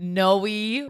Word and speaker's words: Noe: Noe rhymes with Chloe.